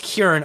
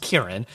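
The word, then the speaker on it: Ciarán: how do you even say his name it's pronounced kieran although it looks like cyrin but because he's northern irish i believe he's it's pronounced kieran uh but yeah he's just someone i've always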